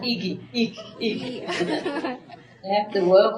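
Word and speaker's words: IGY: Pronounced Iki.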